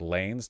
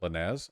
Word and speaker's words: Lanez: that seems fine right it's pronounced like Lanes not Lanez okay I don't know